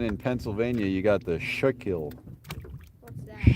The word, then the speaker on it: Schuylkill: There's the Beaver Kill, and then in Pennsylvania you got the Schuylkill. What's that? Schuylkill, but it's spelled all weird.